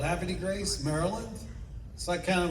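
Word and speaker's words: Havre de Grace: I was born in a town above Baltimore called Happy Grace, Maryland.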